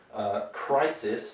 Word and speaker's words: crisis: Crisis, this is a S sound, crisis.